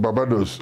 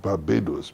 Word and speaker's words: Barbados: pronounce words, names, etc., somebody said, "I come from Babados." And the Englishman said, "Why don't you try calling it Barbados Babados?"